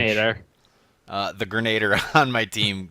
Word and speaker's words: Grenadier: How do you say that? Grenadier. Grenadier. I always say Grenadier. Grenadier. It's more French. Grenader.